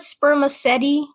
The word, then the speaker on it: spermaceti: Is the word spermaceti? Spermaceti? Spermaceti? It's spelled sperm, A-C-E-T-I.